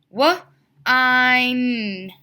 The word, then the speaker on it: wine: And because we have our I sound, we have to add our silent E at the end.